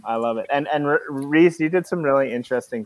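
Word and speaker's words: Rhys: tradition i like it so your name is spelled r-h-y-s and for whatever reason i like i i just assumed it was rice um now that's a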